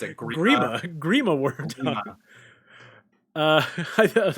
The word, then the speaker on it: Grima: Okay, Creama Wormtongue. Did you say Creama? How do you pronounce it? Grima Wormtongue.